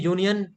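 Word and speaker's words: union: प्रियांशी जी यूनियन या sound. आप यू पे चले गए। उ साउंड नहीं है यहां पे। ए इ आई ओ यू वाला कांसेप्ट बचपन वाला कांसेप्ट भूलेंगे हम लोग। हम यहां पर आवाज पर जाएंगे। और यह यूनियन यह कोसोनेंट साउंड है यानी कि य से शुरू हो रहा है।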